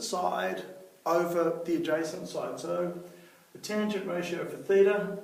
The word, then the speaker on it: sin: for the sign ratio we write it as Sin but actually it's still pronounced s and sorry just bumping